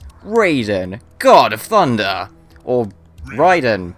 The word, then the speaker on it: Raiden: Raiden God of Thunder or Ryden or however you want to pronounce him I personally pronounce him as Raiden because they pronounce it in game as Raiden so I figured there's